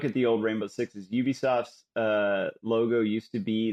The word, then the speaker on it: Ubisoft: they they said okay now it's Ubisoft not Ubisoft Ubisoft and it was very and they gave us all classes and and taught us to pronounce it Ubisoft so even though